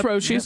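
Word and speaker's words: Roshe: Am I pronouncing that right? I've always said Roshis. Yeah, it's Roshis. Yep.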